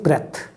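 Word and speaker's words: breath: अगर आप कहते हैं ब्रेथ, वो नाउन है, उसका प्रोनाउंसिएशन और इसके में फ़र्क होगा। This is ब्रीद, that is ब्रेथ।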